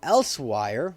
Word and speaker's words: Elsweyr: So if you do COC to teleport, and we do Elsewire, which is spelled ELSWEYR.